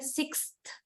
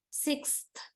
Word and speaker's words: sixth: this sound sixth usually normally this is alveolar that is the phoneme right usually this alveolar but in this world you just pronounce this word and say how you your tongue behaves when you say the word sixth sixth okay following word is a dental sound the sound when you